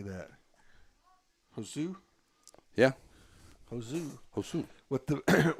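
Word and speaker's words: Josué: s u e how would you say that hosu yeah hosu hosu with the with the uh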